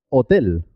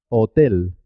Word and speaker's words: hotel: tenemos la letra h es una letra especial en español también porque se escribe pero no suena no tiene ningún sonido es muda por ejemplo hotel hotel alcón cohete hospital la H no suena es muda la H